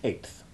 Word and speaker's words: eighth: to 8 to make eighth, one t is omitted in the spelling, but it is still sounded. Eighth. Be careful not to pronounce it as though it rhymed with faith.